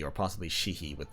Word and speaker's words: Sidhe: Because the word Beansidhe turned into the English word Banshee. So I think it was pronounced Banshee. So I think Sidhe is pronounced she, or possibly Shihi with like an apostrophe in the middle.